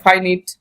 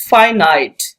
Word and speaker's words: finite: My dear student, this is very important word for your pronunciation correction. আমরা সবসময় বলে থাকি এটাকে, এই ওয়ার্ডটাকে বলি আমরা, কেউ বলি ফাইনিট, কেউ বলি ফিনিট, ওকে, বাট the right pronunciation is ফাইনাইট।